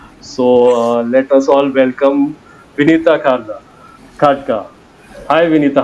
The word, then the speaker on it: Vinita: So I'm like, guys, it's Vinita, it's Vinita. So at times it's like Yeah. Vinny.